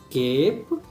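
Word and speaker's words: cape: ए होगा, तो आइए, जैसे केप, CAP तो कैप होता है, बट यहाँ पे ई लगने की वजह से ई तो साइलेंट होगा, लेकिन इसे केप पढ़ेंगे।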